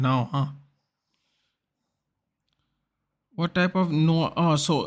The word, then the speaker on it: noir: Yeah, so that's what Noir is. Noir. It's pronounced, it's French.